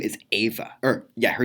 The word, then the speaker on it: Eva: got my best friend she her name is ava her yeah her name is ava and I go but in there put in the post it's Evie a that's Eva she goes no it's pronounced Eva I'm like